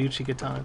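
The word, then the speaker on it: Uchigatana: could probably wield the Uchi Katana too I might not have the strength the Uchi katana that's how you pronounce it in Japanese find me I don't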